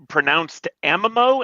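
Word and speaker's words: amomo: It's pronounced amamo, and it refers to plants of the genus amomum, so cardamom, okay, etc.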